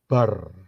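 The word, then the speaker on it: בר: Beth dan Resh itu kalau dijadiin satu, itu bacanya bar.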